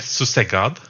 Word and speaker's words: susegad: It's it's pronounced. It said susegad, Susekab.